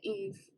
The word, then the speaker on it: Eve: Is it Eve? It's Eve. Eve. Okay. Because in my head I was saying Evie, and then I'm like, well, that's probably not right.